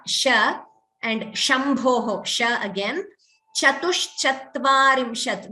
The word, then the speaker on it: चतुश्चत्वारिंशत्: Chatushchatvarimshat. This is the same Sha as Shri, Shiva. Sometimes there is a tendency to chant it as Chatus. That's not right. Chatushchatvarimshat.